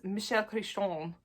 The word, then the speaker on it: Michael Crichton: And the next one is Prey by Michael Crichton. Although, listen, I gotta say, I love the way that Emily Fox pronounces his name, which is Michel Crichton, because she speaks French.